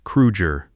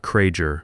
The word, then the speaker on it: Krueger: You pronounced his name correctly, Krueger, not Krager my Myger, because he could hear the difference and he would remember.